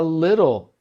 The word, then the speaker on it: little: inglês, I understand a little English. I understand a little English. Então, como você pode ver aqui no guia de fonologia, little, o melhor jeito de pronunciar é como se fosse IH.